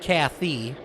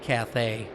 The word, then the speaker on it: Cathay: know how that's pronounced some say cathay it's not kathy probably cathay isn't it probably all right